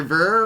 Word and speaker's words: Ver: what his name is is it Roger ver Roger years writes beer its beer that's what he said he was like he